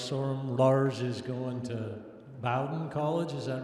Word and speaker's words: Bowdoin: track athletes lars sorum lars is going to bowden college is that right did i say it right or wrong bowden i'm sure it's a high academic school yeah thank you i'm laura sorum i'm going to bowdoin college i will be cross-country skiing and running